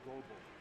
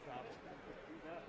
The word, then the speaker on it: Goebel: You're mispronouncing number 16 and number 1's last names. Oh, okay. Their names are Goebel. Oh. Yeah, you call them Gobble.